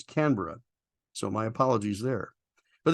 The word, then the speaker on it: Canberra: from Great Britain, and we call it the Canberra here in the US, but it was pointed out to me by viewer Sarah Jane that the proper pronunciation is Canberra.